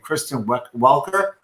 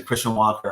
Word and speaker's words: Kristen Welker: and i it just everyone was pronouncing christian walker on tv freaking me out they were listening this slightly gently mispronouncing with like a canadian accent it sounds like christian walker that's hilarious that's fantastic